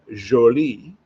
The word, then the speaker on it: Jolie: Then we come to Justin Jolie. Um, so for those who pronounce for wondering, it is not pronounced jolly. It is Jolie.